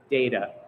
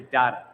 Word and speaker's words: data: So you'll hear somebody in North America will often say data whereas somebody in the UK you might hear data.